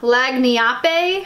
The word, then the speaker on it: lagniappe: to me it looks like I want to pronounce it like an Italian word but it's a leg lagniappe a lagniappe for us american people who don't